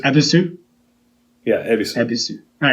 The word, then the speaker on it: Ebisu: How do you pronounce that? Ebisu. Ebisu?